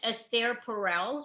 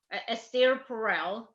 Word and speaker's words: Esther Perel: I promote her book like it's my own, Esther Perel.